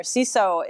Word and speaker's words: CESO: If you're familiar, CESO itself, pronounced CESO, Center for Effective School Operations, we basically help on the operations side of school districts.